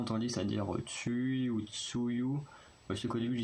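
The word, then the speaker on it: Tzuyu: dire, quand on connaît pas, c'est que ça s'écrit T-Z-U-Y-U. Donc, quand on connaît pas, on a souvent entendu ça dire Tsui ou Tsuyu.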